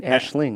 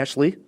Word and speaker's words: Aisling: My number 1, like I said, is, how do you say her first name? I was saying Aisling. Aisling. Okay, yeah. Ashley? Aisling. With a G, sort of. Aisling.